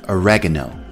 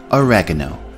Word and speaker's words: oregano: Our next herb also has a difference between American and British English pronunciation. In American pronunciation, it is called oregano. Oregano.